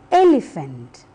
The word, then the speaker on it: elephant: the first word elephant the e letter is repeated twice the first one is pronounced a and the second one is pronounced e elephant look at the next